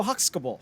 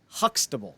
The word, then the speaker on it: Huxtable: cosby show had uh theo huxkable huskable huxkable how did you pronounce that name huxtable there we go it's been a